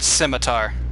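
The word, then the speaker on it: scimitar: guy scratching his nose I've always said simitar s simar s I'm pretty sure that's how it's pronounced I'm quite positive you do not s like pronounce the C currently I'm kind of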